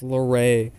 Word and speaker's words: Laray: next hiding spot also I just realized I've been saying his name wrong the whole time it's Laray I genely had no